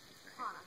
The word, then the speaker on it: Hana: They pronounce Hana? Hana. Hana. Hana. A says ah. You got the whole language licked. There's only 13 letters. Really? In everything they write. So that's half the battle right there. A says ah. With almost no exceptions.